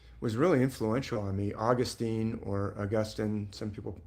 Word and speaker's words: Augustine: really influential on me, Augustine or Augustine. More people probably pronounce it Augustine, but in California we would say Augustine.